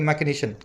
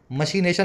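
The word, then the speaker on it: machination: Conspiracy, मैकिनेशन, बड़ा अच्छा word है इसके लिए, मैकिनेशन। मशीनेशन लिखा जाता है, बोला जाता है मैकिनेशन, ठीक है, षड्यंत्र का सिनोनिम है।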